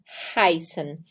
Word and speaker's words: heißen: E a gente tem AI, heißen. IE se pronuncia um II mais prolongado.